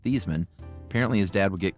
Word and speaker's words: Theismann: Growing up, his dad was very firm that their last name was pronounced Thiesman.